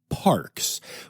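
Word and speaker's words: PaRx: in a program with Parks which is uh sounds like Parks but it is spelled PA then Capital RX like a prescription which is a natural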